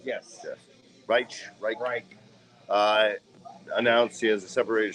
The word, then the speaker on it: Reich: Is that how you pronounce it? Yes. Reich.